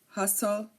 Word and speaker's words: hustle: tle e like Castle hustle whistle um you know it is also silent so if a word ends in stle e we do not pronounce the T like Castle hustle whistle